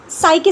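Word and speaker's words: psyche: देखिए आज का जो सेशन है ना वोकैब में, वो साइके से रिलेटेड है, ठीक है। साइके एक रूट वर्ड है। आप साइक पढ़िए, मैं साइके पढ़ रही हूँ जिससे स्पेलिंग रॉन्ग ना हो, ठीक है।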